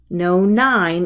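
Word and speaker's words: nonyne: No-9 is its pronunciation.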